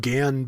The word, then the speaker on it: Gyan: probably mentioned before that I pronounce it Gan because that's the way it was pronounced in the English dub of Mobile Suit Gundam in Japanese gun Cannon